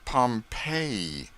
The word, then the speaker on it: Pompeii: buried city of pompeii they pronounce it pompeii i always had an